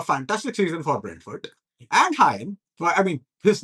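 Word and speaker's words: Rayan: season for Brentford, and Hyen, well, I mean, his name, of course, we pronounce his name as Ryan, but it's actually Hyen.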